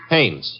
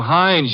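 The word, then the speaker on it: Haines: Hannes. H A I N E S. Ah. Oh, Hannes. Yeah. Do you know him? Well, there's a fell named Hines used to fish.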